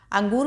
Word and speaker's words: अंगूर: अंगूर में आप देखेंगे ना बोलते समय हल्की सी आपकी नाक से आवाज निकलती है तो यह ऊपर जो